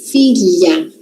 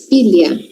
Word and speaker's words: filha: Milho, muralha, filha. Tá. Se você ainda tem dificuldade em fazer esse som, já, que você vai fazer? Você vai falar como se tivesse um i no lugar do H. Filha, filha, filha, filha, filha, filha, filho.